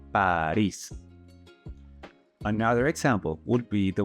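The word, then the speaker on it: París: apply room number one it has a stressing Mark above the eye so you're going to pronounce it Paris another example would be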